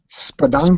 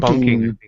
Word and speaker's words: spelunking: Spelunking. Spunking. He goes spunking. No, spelunking.